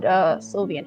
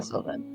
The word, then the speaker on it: Sylvan: Kevin, how much would Sylvian help me here? Am I pronouncing that right? A Sylvan. Okay, so Yeah, Sylvan.